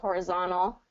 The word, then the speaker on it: horizontal: good good one too horizontal yeah where that t kind of gets swallowed up and I think it has to do I'm trying to remember um with the NT combination okay so it's when you that NT combination in there and it's been a little while since I've reviewed the exact rule on this one but um but you can go either way and I actually encourage